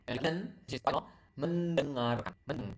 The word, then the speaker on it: mendengarkan: Study belajar, watch menonton, and then which is listen mendengarkan. Men- You You can hear the sound there. You can hear the sound like French.